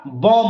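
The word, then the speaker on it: bomb: मैंने लिखा है पी ओ एम बी फिर यहां पर साइलेंट हो जाएगा अब जूही 20 साइलेंट कीजिएगा तो बम क्या हो जाएगा बम हो जाएगा जैसे ये हुआ है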